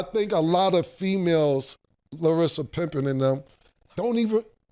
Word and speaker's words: Larsa: So I think a lot of females, Larsa Pippen and them, don't even. You always say Larissa, but it's okay. It's Larsa.